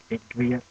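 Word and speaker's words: i griega: Y is pronounced Igrieta.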